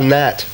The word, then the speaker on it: gnat: It's a tricky one because there is a silent letter in it. Ooh. Ooh, a bit yes. Like my phone number. Seven across, a biting insect, gold team. A gnat. Yes, a gnat with a G.